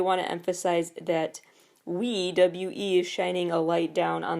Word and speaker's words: WEi: pronounced ruei as their their name is Wei pronounced Wei and ruei is their fandom name Ru meaning